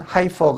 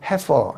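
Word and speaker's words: heifer: 를 2개 쓰기 되어 발음은 하이퍼 가 아니고 해소 입니다 2 암소 아지를 취하여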